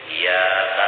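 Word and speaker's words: إِيَّاكَ: Jadi dijaga tasydid itu, jangan kada bertasydid membacanya. Nang kebanyakannya kada bertasydid membaca iyyaka. Itu banyak nang kada membaca bertasydid iyyaka na'budu wa iyyaka nasta'in.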